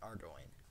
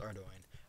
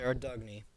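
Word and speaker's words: Ardougne: Cakes cannot because you can get them with a thieving level of five and ardoin, which is how it's pronounced. It is pronounced ardoin. I used to say Ardugney because that always made sense.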